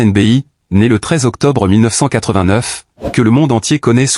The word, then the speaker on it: Nebchi: Sliman Nepschi prononcé Sliman NBI né le octobre 1989 que le monde entier connaît sous le simple nom de Sliman n'est pas seulement un artiste.